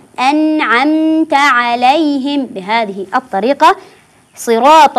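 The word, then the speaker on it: أنعمت: صراط الذين انعمت عليهم ركزوا على كلمه انعمت فالبعض يقرا النون بالميم ام عمت ام عمت او يدغم يقول انعمت انعمت يعني يدغم ولا يوضح حرف النون انعمت والبعض يقراها احيانا باللام يقول العمت ال العمت وهذا ايضا غير صحيح فاقول انعمت انعمت عل عليهم بهذه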